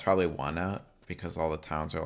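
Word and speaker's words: Onett: I was like, I always just pronounced it like on it. Like the words on it.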